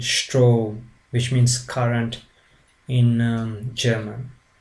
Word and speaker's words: Strom: as in English, but the S changes its sounds to sh, like in Sport and like in Strom, which means current in German.